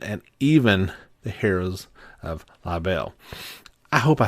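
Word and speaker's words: Liberl: I say that right I was you know the word is spelled Li IB e r l but I'm pretty sure it's live L um no uh no R in there so um that means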